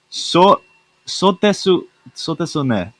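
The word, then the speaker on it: そうですね: You don't have to pronounce the U. I don't use it. It's just so desu ne.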